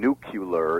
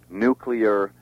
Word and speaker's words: nuclear: earlier in the show Rel is wrong just as Jew is wrong and nucular is wrong all those those are beastly mispronunciations they should be realtor nuclear Jew uh jewelry and those